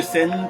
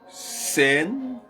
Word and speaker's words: CERN: La machine de scène, prophétie biblique, nous commençons à attaquer.